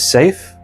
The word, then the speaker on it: Seif: My name is Safe. For those of you who think they can spell it, it's not what you think.